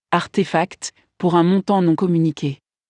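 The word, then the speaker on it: RTFKT: marque de mode digital rtf cat est prononcé artefact pour un montant non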